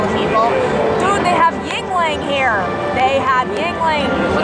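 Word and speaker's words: Yuengling: Dude, they have Yingling here.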